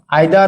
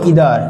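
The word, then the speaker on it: either: কি বলতো দেখি ইচ এভরি আইদার অথবা ইদার একটা বললেই হলো অথবা নাইদার অথবা নিদার একটা আমেরিকান স্টাইল আরেকটা হচ্ছে আমাদের ব্রিটিশ স্টাইল উচ্চারণের দিক থেকে ওটা কোন সমস্যা না ওকে এবং দেন হচ্ছে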